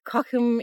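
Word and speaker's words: Cochem: Um, we're in Cockum in Germany. C O C H E M is how it's spelled.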